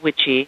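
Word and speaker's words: WICHE: that we do at witchie uh which is how it is pronounced uh the Western Interstate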